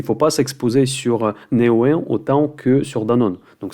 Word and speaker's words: Neoen: Je disais Néo, mais là c'est Neoen apparemment.